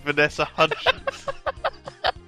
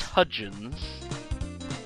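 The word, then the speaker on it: Hudgens: something or Hi H I thought the D was silent hyans or like the the hyan belt in space space in space why are you mocking me you're the one who can't pronounce hudgin hudin what do you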